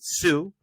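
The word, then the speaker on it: Hsu: or pardon me Stephanie I believe you pronounce it sue for everything everywhere all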